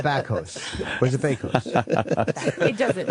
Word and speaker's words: Bakos: You're Nada Bakos. Am I saying it right? What kind of name is that? Bakos is Polish.